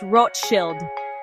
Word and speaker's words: Rothschild: In German, the name is spelled Rothschild and is pronounced Roth Shield.